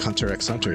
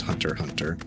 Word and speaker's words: Hunter x Hunter: Feel like Hunter X Hunter here. I know it's pronounced Hunter Hunter.